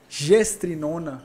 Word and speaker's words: Gestrinona: Gestrinona, pronúncia correta? Sim.